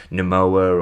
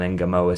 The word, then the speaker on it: Ngumoha: Now, just quickly on that, I toyed with different pronunciations of that last name andve I've done a lot of research on this. I've seen somebody pronounce it Namoa or Unmar when he was at Chelsea. I think they their commentator used that, but I think everybody now seems to have settled on Enamoa.